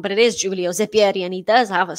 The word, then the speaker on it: Zeppieri: a moment where i thought i'd got his name wrong but it is julio zepiri and he does have a set point here